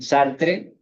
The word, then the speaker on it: Sartre: Aquí sí me salto la pronunciación francesa, es Sartre, es decir, Sartre para los hispanoparlantes.